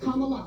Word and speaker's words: Kamala: How to remember that it's Kamala because someone told me think of comma and then just say la. That's Kamala. what the kids did at the NC.